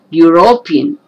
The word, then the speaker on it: European: beginning the last one it is beginning with the letter e but the sound is not a or a it is not the a sound it is u sound again u european so these these three